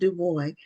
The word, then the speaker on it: Dubois: It's Dubo. Okay. Dubo, are you related to Web Dubo? I am not, but he is my namesake. So, I like to pronounce my name the way he pronounced his.